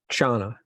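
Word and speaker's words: kshana: say in Sanskrit Paul oh yeah just Shawna Shawna Shawna the little K at the beginning yeah so what that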